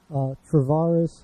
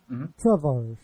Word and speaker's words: Tavarish: tonight's guest is Freddy Tavarish. I always mispronounce that. I apologize. Hernandez. It's Tavarish, not Tavarish. That's like my weird Chicago accent coming out there.